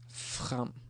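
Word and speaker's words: frem: And there is another word we could have. Fram. With an E. Fram. This is again. Fram, fram, fram, fram. So, FR, just a bit of the sound.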